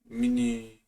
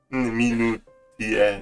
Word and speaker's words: minutiae: Why get caught up in the Miniatur? Oder was habe ich gemeint? Minutier. Jetzt nochmal richtig. Miniatur. Minutiae.